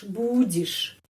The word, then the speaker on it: будешь: Ты будешь. БУ gampang, bu. Terus дишь. Kenapa I? Kenapa huruf Y bacanya I? Karena tidak dapat penekanan. Karena itu Y dibaca I.